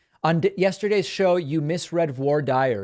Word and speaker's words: voir dire: On yesterday's show, you misread voir dire. It's French. No, I understand that. In American jargon, they just say voir dire. I know that it's not the French pronunciation, but I do appreciate the well-intentioned correction.